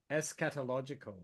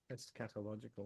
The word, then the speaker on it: eschatological: a doctrine of transmigration takes place so um es catological that's how you pronounce it don't es catological meaning which has to do with the the